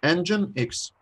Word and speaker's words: nginx: It looks to me like Nginx or Nginx. Nginx. Engine like a car engine, and then X.